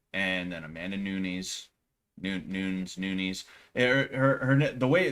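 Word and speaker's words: Nunes: then Amanda Nunis Noun Nunis. Her her the way the way you say her name is supposed to be like Nunis or some like that, you know?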